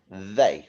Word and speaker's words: they: They. What's the tricky part in they? It's the E, isn't it? Because the EY is making an A sound when normally the EY would make an E sound.